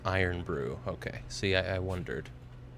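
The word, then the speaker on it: Irn-Bru: Earn Brew. Yes, Furious was saying earlier. Furious was was recommending it. Uh, it's pronounced Iron Brew.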